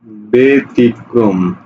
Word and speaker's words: ব্যতিক্রম: এবার আমি লিখি, দেখো ব্যতিক্রম, ঠিক আছে, ব্যতিক্রম। ওকে, দেখো তো পরের বর্ণে রস্বইকার আছে, সুতরাং এ হবে, ব্যতিক্রম, ব্যতিক্রম।